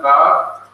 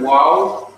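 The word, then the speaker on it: waw: Okay, so this is colem vav, or this is colem wow, W-A-W, by itself.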